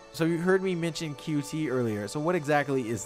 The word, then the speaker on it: Qt: So you heard me mention Qt earlier, so what exactly is that? RPCS3 has moved to QT. It's technically pronounced cute, but I refuse to do that.